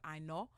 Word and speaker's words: Aina: So for example, my last name, Aina, in Yoruba is actually pronounced like more like Aino, and it means man born with an umbilical cord wrapped around his neck.